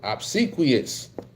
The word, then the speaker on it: obsequious: That's how you pronounce that word. Obsequious.